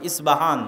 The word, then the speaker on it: ইস্পাহান: আমরা প উচ্চারণ করি ইস্পাহান, আরবিতে এটা উচ্চারণ হয় না। আরবিতে হয় আল আসবাহানি, বা উচ্চারণ হয় ইসবাহান বা আসবাহানি।